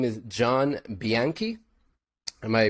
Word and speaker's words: Bianchi: His name is John Bianchi. Am I pronouncing that right? Bianchi, Yes, right?